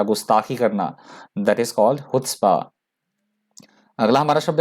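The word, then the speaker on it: chutzpah: अगला हमारा शब्द है हुत्स्पा। सी से प्रोनाउंस नहीं करना इसको, प्रोनाउंसिएशन जो होगा वो हुत्स्पा से होगा, एच से होगा।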